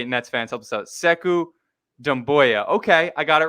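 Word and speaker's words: Sekou Doumbouya: we go uk nets fans help us out seku damboya okay i got it right i got it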